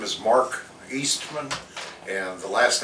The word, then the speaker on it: Oestmann: your name please sure my name is mark eastman and the last name is doesn't look like it's spelled it's o-e-s-t and not many people down